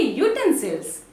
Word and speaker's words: utensils: See, though it starts with U, the pronunciation begins with YU. That is, we say utensils.